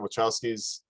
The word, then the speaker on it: Wachowski: But at the same time, let's face it, the Wachowskis, they're Wachowski, did I pronounce that right?